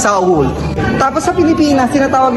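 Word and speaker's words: Seoul: blossom hotel dito sa ang tawag natin soul but Saul Ganun pala ang tamang pagpronounce Saul tapos sa Pilipinas tinatawag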